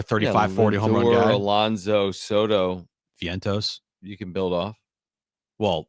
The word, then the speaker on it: Vientos: lineup for the Mets is Lindor stto Alonzo Vientos is that who is that where is that how you pronounced it I don't know Mark hold on Met's roster um it might be Vientos yeah it's Vientos Mark Vientos got that one yeah yeah he